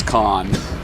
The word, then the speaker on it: Khan: I always pronounce that Khan. Oh yeah, they pronounced it wrong. Okay. We were I was actually just making a little bit of fun of that yesterday. Because I've lived in Korea for 5 years and been in the Samsung house multiple times, and I'm pretty sure it's Khan.